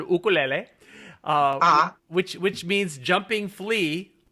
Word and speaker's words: ukulele: of bass ukulele and I pronounce it as the Hawaiians do because they call it an oh cool la ah which which means jumping